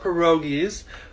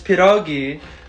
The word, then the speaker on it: pierogi: a not every Polish person has to love pierogies B you're pronouncing it wrong it's piragi and see yeah bye Mexico's number five of the richest cultures in the world United States is number 18.